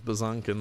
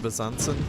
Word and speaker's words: Besançon: We're gonna lose Bazankin though. Bazansen? Bazankin? It's pronounced Bazansen.